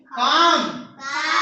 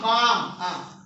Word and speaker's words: calm: Calm. In this L is silent. In this L is silent. Calm.